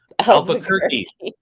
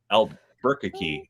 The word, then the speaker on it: Albuquerque: like crazy albert albuquerque i i was gonna put the emphasis on the wrong syllable i don't know what i was going to say but my brain went al burkey and that's not right right that number is